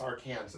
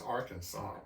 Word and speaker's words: Arkansas: It looks like it's Arkansas, Yes. but the way they pronounce it there is Arkansas.